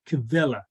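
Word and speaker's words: Quelle: q and it's german for a word that's pronounced kevela and it's q-u-e-l-l-e uh and it's the german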